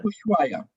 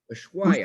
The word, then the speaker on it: Ushuaia: The town Ushuaia. Ushuaia.